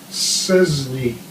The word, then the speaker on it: Sczesny: Okay, one of their corporals or sergeants was Joseph Sczesny, and it looks easy to hear pronounced, but it's spelled S-C-Z-E-S-N-Z-Y, Sczesny.